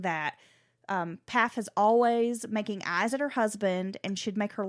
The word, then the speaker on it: Pfaff: We should talk a little bit about Kristen Pfaff, and I hope I'm saying her name correctly. It's Pfaff, and I've always butchered it and said Pfaff, but that might not be right.